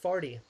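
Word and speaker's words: Fardy: family and everything um their last name is uh f-a-r-d-y oh which is uh pronounced farty party and i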